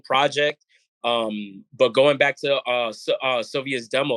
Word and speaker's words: Cilvia: Cilvia's demo?